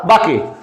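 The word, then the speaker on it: bouquet: বোকে, MAD made this বোকে বা বাকে। ওকে, উচ্চারণটা কিন্তু বাকের নয়, উচ্চারণটা হচ্ছে বোকে।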